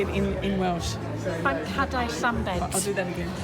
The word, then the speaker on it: Banc hadau Llambed: Banc hadau Llambed. I'll do that again. Banc hadau Llambed.